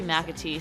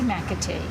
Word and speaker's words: McAtee: Inside of the one-story red building, Dreamland BBQ CEO McAtee sits down with me at the bar.